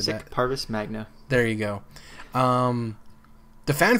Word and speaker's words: Parvis Magna: I know I butchered that. Parvis Magna.